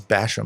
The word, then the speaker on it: Basham: It is Basham. I've always said Basham, like bash him You've over been- the head, You've been but saying it right.